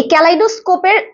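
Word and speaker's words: kaleidoscope: তো বানানো আমরা জানি তাহলে ক্যাল কাল আমরা বলি না যে কাল গিয়েছিলাম ক্যাল আইডো ই আই ডি ও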